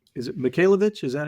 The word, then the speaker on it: Michalowicz: think that series at Mike m is it movich is that how you say it yeah Mike uh Mike mallwitz mallwitz MTZ MTZ okay I haven't been saying